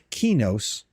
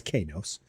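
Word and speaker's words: Qeynos: But because it is spelled the way it is, a Q without a U and then an E always pronounces as K.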